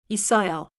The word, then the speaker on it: 있어요: 있어요.